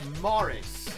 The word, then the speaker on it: Moritz: wrong I what how when I say it sounds like Morris now Morris is kind